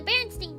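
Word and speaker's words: Berenstain: They did the Baronstein bears. The Baronstein bears. That's how you pronounced it.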